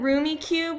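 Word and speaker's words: Rummikub: Rummy, wait, Rummy Cube. I think that's how you say it. We always said Roomy Cube when we were kids.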